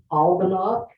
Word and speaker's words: Albannach: Their name is called Albanac, ALBANNACH. Spell it again.